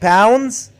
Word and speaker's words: pounds: By the way, we pronounce it pounds. We omit the D. The D is silent. We don't say pounds.